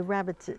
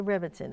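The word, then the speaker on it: Rebbetzin: The Rebbitzin. The Rebbitzin? The Rebbitzin. Okay, thank you very much. So the Rebbitzin, the wife of the rabbi, you have certain duties. So what's it like to be the Rebbitzin?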